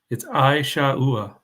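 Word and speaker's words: עשו: Pam put how to pronounce Esau. It's Isha'ua, if that helps.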